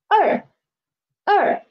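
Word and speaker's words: 二: final is er endothelin is fourth tone so er er it means two in chinese two in chinese now we've learned the syllables now let's move on to next part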